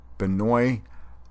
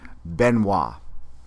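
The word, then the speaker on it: Benoît: first to invent something benoi mandelbrot polish born mathematician well let me correct the pronunciation of his first name it's benois mandle BR I only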